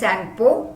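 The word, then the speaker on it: Tsangpo: It's known as Sangpo. T is silent.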